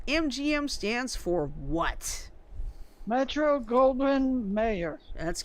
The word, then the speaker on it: Goldwyn: stands for what Metro Goldwyn mayor that's correct I may have gotten the G 1 mispronunciated no you got it gold one's right there